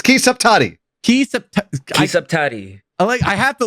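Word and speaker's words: Ki Saptadi: I can't pronounce it. I'm trying. I'll look up the name. It's Ki Saptati.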